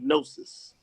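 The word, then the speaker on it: gnosis: they tell you it's geometry but it's actually nosis g n o s i s nois genosis the G is silence yeah is silent but it's just nois hey uh Cliff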